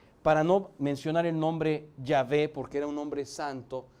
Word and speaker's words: Yahvé: Quiere decir Yahvé salva. Eso es Yeshua. Yeshua. El tetragramatón YHWH que se pronuncia Yahvé en nuestro, bueno, ¿qué digo?